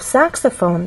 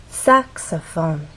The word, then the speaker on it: saxophone: voice glide up clarinet in the case of saxophone there are also three syllables but the stressed syllable is the first one which means we have